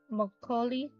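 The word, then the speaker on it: makgeolli: do you spell this m a k g e o l l i how do you say it moli moli all right that's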